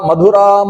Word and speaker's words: ಮಧುರ: ಸೇರಿದೆ ಬಲರಾಮಕೃಷ್ಣರನ್ನು ಇವರೆಲ್ಲ ಮಥುರ ಮಧುರಾಂ ಮಧುರಾಪುರಿ ಅದು ಎಂತ ಮಧುರಾಪುರಿ ಅಂದ್ರೆ ಮಧುರವಾದ ಮಧುರಾಪುರಿ ನಾವಇವತ್ತು ಮಥುರ ಮಧುರ ಅಂತ ಹೇಳಿಹೇಳಿ ಅಭ್ಯಾಸ ಆಗಿದೆ ನಾವು ಅಯೋಧ್ಯ ಮಧುರ ಮಾಯ ಹೀಗೆ ಹೇಳ್ತೇವೆ ಸಂಸ್ಕೃತದಲ್ಲಿ ಮಥುರ ಅನ್ನುವ ಶಬ್ದ ಇಲ್ಲ ಇರುವುದು ಮಧುರ ಅನ್ನುವ ಶಬ್ದ ಅಯೋಧ್ಯಮುರಮಾಯ ಅಂತಲೇ ಹೇಳಬೇಕು ಆ